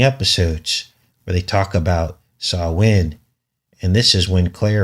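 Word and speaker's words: Samhain: 5th of November on Sawin in the witch's calendar. And it's pronounced Sawin, but it's actually spelled S A M H A I N if you were to want to look this up.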